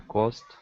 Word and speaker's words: coast: It has to have the long sound. Oh, coast. Coast. Otherwise, it sounds too much like cost if you don't do the O.